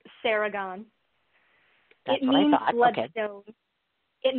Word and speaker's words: Seregon: It's pronounced Seregon.